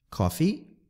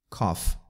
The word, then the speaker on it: coffee: Coffee é café. Preste atenção na pronúncia para não ficar parecido com cough, que significa tosse. Coffee, cough.